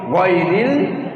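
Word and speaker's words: غير: গইন কি বলবো গইন গইরিল মাগদুবি গই গই গইরিল এখানেও গইন বললাম সেখানেও গইন উচ্চারণ হবে তাই না জি সহি পড়া সহি শব্দ সহি উচ্চারণ গই গইরিল মাগদুবি গাইরিল পড়া যাবে না তজ আইন গই এক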